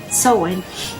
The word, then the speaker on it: Samhain: this segment of the podcast the book says soen pronounced soen means Summer's end it was a lunar Festival